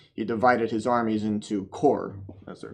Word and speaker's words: corps: So he divided his armies into corps, as they're called, which in French means a body. So pronounced corps, that's an approximation anyway of the French pronunciation of the word.